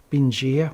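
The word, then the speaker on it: Bình Giã: And the tracks led from south to north from one of the villages, I think it was Binh Gia, we pronounced in the Aussie way.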